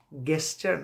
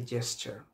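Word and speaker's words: gist: সো গাটা জায়ের মতো উচ্চারণ হচ্ছে, ইটস নট গেস্ট, ইটস এ জেস্ট।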